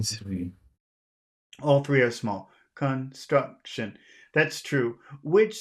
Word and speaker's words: construction: I disagree with you I think it's the middle syllable struck struck struck Construction Construction can you say it like that Construction Construction Construction say it again Construction